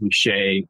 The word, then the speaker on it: Ruscha: I know it's spelled Ruscha. I always had it wrong. My wife corrected me. Ed Ruscha retrospective.